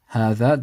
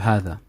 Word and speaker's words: هذا: The first is هذا, the alif is pronounced but not written.